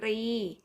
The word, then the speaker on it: กรี: ขับ นิ 3 ค่ะ อ่าน ว่า กรี หมาย ถึง โครง แข็ง แรม ที่ หัว กุ้ง อ่าน ว่า กะ รี หมาย ถึง ช้าง คำ ที่ 4 ค่ะ